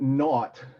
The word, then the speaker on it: naught: we see it okay so um let a naught and by the way that's pronounced that word not is an old piece of vocabulary that pretty